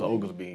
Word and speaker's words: Oglesby: So who is? Am I saying it right? Oglesby. Yeah, so Oglesby.